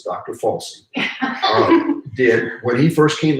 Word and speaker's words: Fauci: Fauci did, and I didn't mispronounce that, it's Dr. Fauci, did when he first came out and said masks are worthless.